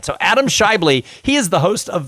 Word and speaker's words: Schaeuble: to screw it up it's Scott no it's Shively shyboy Adam Shively I was gonna say Skyy ball and I knew that wasn't right so Adam Shively he is the host